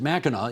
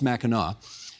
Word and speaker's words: Mackinac: we should remind people, you pronounce it Mackinac, even though it's spelled Mackinac. That's right. But it's pronounced Mackinac.